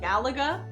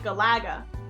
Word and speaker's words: Galaga: in the last 3 months that not everyone pronounces it Galaga. What? Yeah, like my professor and other people in the class pronounced it Galaga.